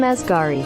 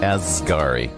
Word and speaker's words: Asghari: Let's see how to pronounce. It is our girl. All right, here we go. Sam Asghari. Asghari.